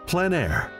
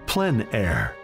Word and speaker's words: plein air: Called plein air, the French coined the term, which means open air or outdoors. The French pronounce it plein air. Others say plein air. No matter how you say it, there